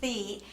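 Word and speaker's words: Thy: It looks like T-H-Y, but it's pronounced Thee, and she told us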